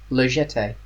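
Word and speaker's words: La Jetée: what did you pick lagete that was pronounced legetti legete yeah yeah it's not a hard g that's i wasn't using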